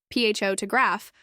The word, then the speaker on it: photograph: than others for instance the word photograph has stress on the first syllable pH to graph while photographer shifts the stress to the second syllable photographer learning these stress patterns